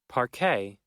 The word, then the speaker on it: parquet: Parquet.